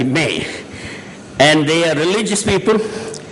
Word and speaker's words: me: M-E, but they pronounce like May.